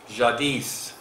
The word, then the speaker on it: Jadis: And for everybody, it's pronounced Jadis, not Jadi, Jadis.